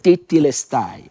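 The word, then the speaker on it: τετέλεσται: Mais dans l'expression grecque, en grec, parce que le Nouveau Testament a été écrit en grec c'est tétélestai. Je prononce T-E encore L-E-S-T-A-I.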